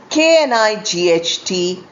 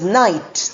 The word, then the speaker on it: knight: The next pair of homophone is kn i g ht and n i gh ht pronounced as knight. The first k is not pronounced.